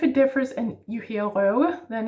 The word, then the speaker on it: røve: Last word is røve. Røve. R in the throat, slashed O, broken O, and then this w sound again, yeah?